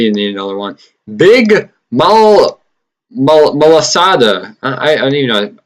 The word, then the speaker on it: Malasada: Big Malasada. I don't even know. I was calling it Big Maslada, but that's not how you say it.